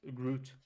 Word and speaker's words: gruit: present so it's a uh barel age Imperial Groot I tried to check the correct English uh pronunciation but Groot it's just it just said it that was just the spelling and then rhymes with Groot so Groot Groot it is it's been aged in vermouth